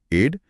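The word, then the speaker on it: aide: अच्छा उच्चारण वही है एड लेकिन एड का मतलब मदद नहीं बल्कि मदद करने वाला व्यक्ति यानी सहायक होता है।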